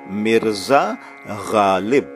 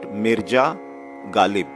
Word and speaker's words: Mirza Ghalib: We say Mirza Ghalib, not Mirja Ghalib. See the difference between the two sounds? Mirza Ghalib, not Mirja Ghalib.